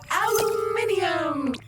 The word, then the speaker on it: aluminium: Aluminum or aluminum as Americans pronounce it incorrectly, but that doesn't make it any less useful.